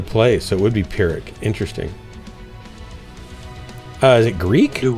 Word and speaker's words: Pyrrhic: Like a F sound? Or do you pronounce the P? Pyrrhic. I've always pronounced it with the P.